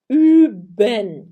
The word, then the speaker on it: üben: O U é a mesma coisa que o Ö. Você vai fazer a boca do U e vai pronunciar I.